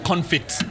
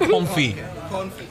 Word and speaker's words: confit: okay and i was ordering it as duck confit the tea is silent comfy comfy it has to yeah so anyway so